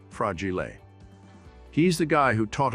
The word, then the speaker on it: fragile: simultaneously taught us that fragile is an Italian word pronounced fragile he's the guy who